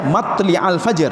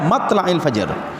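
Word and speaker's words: مطلع: Ada yang membaca matli'al fajr, ada yang membaca matla'il fajr. Jadi bacanya boleh dua Pak.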